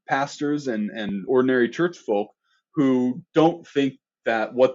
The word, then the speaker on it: Volk: and the German folk Volk with a B pronounced folk they're making that identification